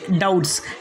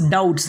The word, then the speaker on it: doubts: जैसे कि डाउट्स, DOUBTS डाउट्स, यहाँ पर बी को नहीं पढ़ना है।